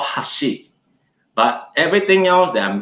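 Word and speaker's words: 箸: we hold when we call chopsticks it's called hashi but everything else that i'm going to share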